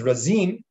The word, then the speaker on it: Razin: this little town in, I think it's pronounced Razin, not like Rajin, like the Hasidish one, but Razin.